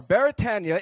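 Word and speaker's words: Beretania: So once more, Baratania is a Hawaiian word, so we properly pronounce it Baratania.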